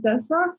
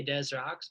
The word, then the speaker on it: Des Rocs: You can pronounce it either or. Like I had somebody just from France asked me today how do you pronounce it. And I was just like, I like the ambiguity in the name and in art in general, but I say Des Rocs, but if you say